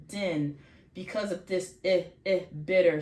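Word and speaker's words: דין: So din, this is going to be din, one syllable, din, because of this bitter sound, din.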